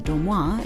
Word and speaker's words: Dormoy: To learn more about, visit Dormoy, or Dormoy, if you pronounce it in French, .com.